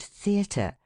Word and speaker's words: theatre: than the rest thus in the word theatre the stress of the voice should be on the letter e and first syllable si and in contrary on